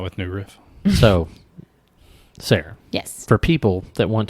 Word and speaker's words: Sarah: I am Sarah Universe on Instagram, and I am Sarah, spelled with an H. The H is silent, and, as in forever young.